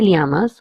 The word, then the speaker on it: llamas: In this, two L's will be pronounced as lia or ya. If you're in Spain, you will pronounce as lia, and if you're in Latin America, you will pronounce it as ya.